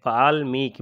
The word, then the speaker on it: वाल्मीकि: 'वाल्मीकि' में 'म' पर लंबा 'ई' और 'क' पर छोटा 'ई' का उच्चारण होता है , इस तरह से यह लिखा जाता है।